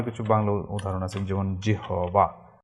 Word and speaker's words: জিহ্বা: এরকম আরো কিছু বাংলা উদাহরণ আছে, যেমন জিহবা, জিহবা এর উচ্চারণ হচ্ছে জিহ্বা, জিহ্বা, এরকম উচ্চারণ হবে, বা জিহ্বা, আহ্বান, জিহ্বা।